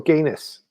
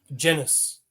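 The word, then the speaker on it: Genis: Is it pronounced Jennus or Guinness? Jennis.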